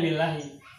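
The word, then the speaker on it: لله: Tuh, ini sesungguhnya adalah dari kata li dan Allah. Cara bacanya lillahi. Tapi kalau kita rinci, ini aslinya adalah li sama Allah. Tulisnya jadi begini, lillahi.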